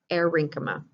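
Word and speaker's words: aerenchyma: between them is called erynchma think about the word air error for space is in there except it's spelled a e r e n c h y m a so it's a tissue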